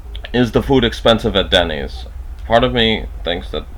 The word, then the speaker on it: Dennys: And you note that the S is pronounced with more oomph than the it would be in, let's say, an American English speaker saying the word Dennys, or like Dennys.